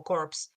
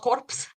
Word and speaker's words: corps: basically oh maybe yeah you ignore the p in the S and just call it core Yeah so